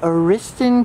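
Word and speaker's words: Ariston: across the street is the old aristan Cafe at least that's the way they pronounced it it was built in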